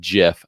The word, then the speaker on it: GIF: i made that says it's pronounced gif like a gift right there that's the one that i believe to be correct or you might select this other sticker which says it's pronounced jif like the peanut butter